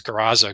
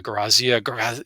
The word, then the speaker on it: Garaza: And so I look up and it says Garaza, Garazia, Grazia. There's three different ways to pronounce it.